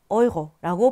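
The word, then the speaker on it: Euro: 유로라고 발음하지 않겠죠. 독일어에서는 어이고라고 발음을 합니다.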